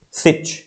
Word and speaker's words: sich: argued it out as sich so sit here means such actually and it rhymes with which so again second and